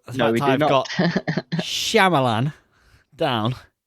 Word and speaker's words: Shyamalan: The pronunciation. Shyamalan.